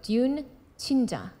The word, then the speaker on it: 듄친자: probably be c h i n j so Dune chinja dun chinja something like that perf perfect there